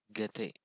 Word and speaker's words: Goethe: It is pronounced as Don Quixote. Then the German writer is actually Goethe.